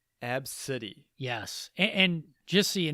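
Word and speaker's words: Abcde: b c d e and i believe it's pronounced ab city ab city yes and just so you know this isn't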